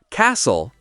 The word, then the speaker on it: castle: Silent T, castle. Say castle. Listen, say listen.